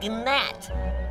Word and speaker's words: gnat: You know, we both work for the king, but compared to me, you are a gnat. It's a G. Silent. It's Nat.